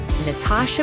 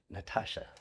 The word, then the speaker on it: Natasha: Well, we can't emphasize the T in England because it doesn't make sense, but Americans can because it makes sense to say Natasha as opposed to Natasha.